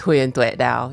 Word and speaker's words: Huyen Te Dao: It's Huyen Te Dao. Yeah, I'm Vietnamese, so it's hard. There are diphthongs and tones and things like that.